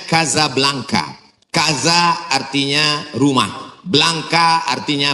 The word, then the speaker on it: Casablanca: Ibu kotanya tulisannya Casablanca. Cara bacanya Kazablanka.